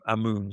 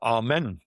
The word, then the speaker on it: Amun: So Ankhesen, and then this is the god name Amun. So Imna, Imun. Or Amen, if you want to pronounce it as Amen. That's how it used to be pronounced before someone changed it into Amun instead.